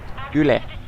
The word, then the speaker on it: Yle: Is it just U-L-E or is it pronounced as a word instead of just... Yle. Yle.